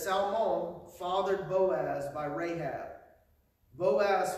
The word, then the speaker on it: Salmon: caught up in the whole name of salmon or salmon or some however you want to say it the research that I found it says that his pronunciation was closer to like a Selma like s-a-l-m-a but he got married